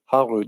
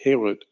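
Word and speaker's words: חרות: And the rabbis say you shouldn't pronounce that word harut, you should pronounce it herut, because in the Bible, in the Torah, there are no vowel markings.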